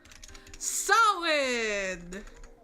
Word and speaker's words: Samhain: Samhain! Which is also not pronounced the way it's spelled.